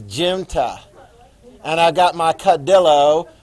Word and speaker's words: junta: If you want to pronounce it junta while you're taking the test quietly to yourself, you just do that. I got that one right. It's junta.